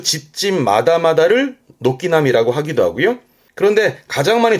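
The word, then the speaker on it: 軒並み: 뒷글자가 병자라 나란히 병자인데요. 그 처마가 나란히 있다는 뜻이에요. 발음은 녹기나미.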